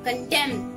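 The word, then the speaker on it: condemn: कंडेम, कंडेम। इसमें N silent होता है, कंडेम, प्रेज, कंडेम।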